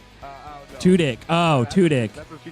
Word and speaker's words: Tudyk: She's saying Alan Tukin. That is correct. Oh, good job, Sam. I did? I said the name wrong? Tudyk.